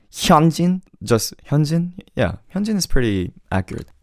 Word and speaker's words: Hyunjin: It's Hyunjin. Hyunjin. If anything, just don't make it too accented. Hyunjin, just Hyunjin.